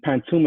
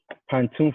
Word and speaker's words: pantoum: And Pantoum is spelled like tomb, P-A-N-T-O-M-E, even though the Pantoum is spelled T-O-U-M-E.